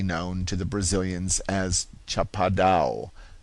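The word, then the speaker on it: Chapada: It is the kind of country known to the Brazilians as Chapado, pronounced almost as if it were a French word and spelled s h a p a d o n.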